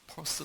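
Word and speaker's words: Peirce: 퍼스 대학의 번역을 하는데 미국 교수한테 가이 들어보니까 퍼스 라고 발음을 하도 답답해서 푸스 담았습니다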